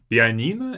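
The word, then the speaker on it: пианино: base the holiday on piina is a piano piina notice that we have an extra no P piano only has two syllables but in Russian it's in fact three versus yeah extra syllable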